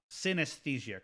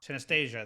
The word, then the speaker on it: synesthesia: if i'm pushing this wrong uh stay anesthesia synesthesia correct but i pronounce it anastasia synaesthesia there we go okay and so we we